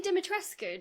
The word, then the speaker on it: Dimitrescu: Lady Dimitrescu. Don't come for me. I looked up the actual Romanian pronunciation. Capcom got it wrong. I'm probably also saying it wrong, but you do pronounce the ending.